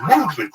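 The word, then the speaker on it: MVMT: church What's Happening Now mvnt watches pronounced the movement Jack was founded on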